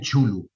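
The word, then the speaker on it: Cthulhu: Pues hay tantas formas, o sea, yo tengo amigos que dicen chulu. Yo personalmente, yo siempre he dicho Chulu.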